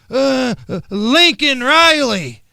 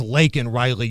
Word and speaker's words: Laken Riley: Say her name. Lincoln Riley. No, the young lady's name was Laken Riley, you buffoon.